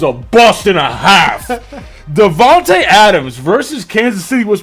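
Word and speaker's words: DeVonta: Devonte this Devonte man he was only it's Devonte not devono Devonte oh is it pronounced you just say a I've heard Devon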